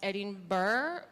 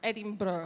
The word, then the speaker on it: Edinburgh: me how to pronounce Edinburgh Edinburgh because I was in Edinburgh so he said it's adding price like bra so let's get started